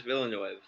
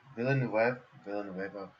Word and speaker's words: Villeneuve: Denis Villeneuve. Villeneuve.